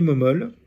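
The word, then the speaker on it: Mommole: a les principales reliques, l'abbé Momol, comme ça se prononce, M-O-2-M-O-L-E, qui est le troisième abbé, donc le supérieur de l'abbaye de Fleury, reçoit en un songe.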